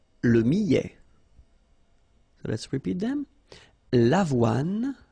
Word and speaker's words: millet: Le millet, here, I, and then double L, so I, millet. ET at the end, open, millet.